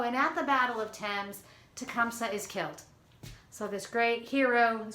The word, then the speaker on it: Thames: battle of thames okay spelled like the french river t-h-a-m-e-s thames it looks like thames it's thames okay that's it's french and the great river in london is also called the thames okay um oh i